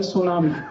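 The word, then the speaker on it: tsunami: में एक शब्द है सुनामी कैसे लिखते हैं टी एस यू एन ए ए आई बोलते क टी सुनामी टी सुनामी टी सुनामी कहते टी साइलेंट है तो लगाया क्यों हटा दो एक शब्द है किट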